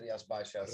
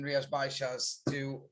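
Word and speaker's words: Rías Baixas: It's hard to pronounce, isn't it? Rias Baixas.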